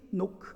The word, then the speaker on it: knock: 두 번째 S는 seek, 찾으라는 거고, 세 번째 K는 knock, 앞에 묵음이 들어가죠.